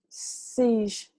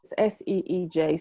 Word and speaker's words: siege: With this particular full moon, with these cards that I've pulled siege is how you say this. SEEJ, siege.